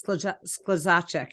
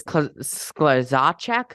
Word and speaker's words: Skluzacek: Thank you so much to Juliana Skluzacek for providing. I'm from New Prague, so I know how to say that name. It's Skluzacek. Easy for me. It's Skluzacek.